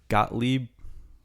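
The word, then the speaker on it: Gottlieb: think it was Doug gotle what is his how do you pronounce that name I think you got it right got Le he like he was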